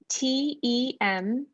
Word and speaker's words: temple: So in this first word, T-E-M-P-L-E, the ending is pull, pull. Yeah. That first syllable though, T-E-M, is our closed syllable. So we have the short E, temple.